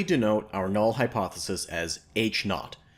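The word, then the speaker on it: H₀: our null hypothesis as H naught that's H with a subscript 0 which is pronounced H naught H naught is a claim about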